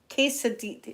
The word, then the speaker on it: quesadilla: Quesadillas, quesadilla. Yeah, quesadilla, I'm saying it right, quesadilla.